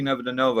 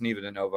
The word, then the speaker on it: Neva Dinova: came out to see Nevada Nova uh Neva de Nova I found out that it's Neva de Nova I've been wrong for for 20 years on how to pronounce it I uh uh called